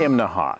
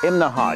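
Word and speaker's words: Imnaha: this morning we're in imaha now that's three syllables imaha you have to say it that way or people in town will laugh at you right behind me that's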